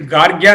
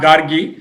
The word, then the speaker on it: Gargya: It is Gargya, not Gargi.